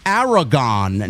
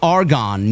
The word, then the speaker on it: Aragon: It's Aragon, not Argon. Named after the region in Spain.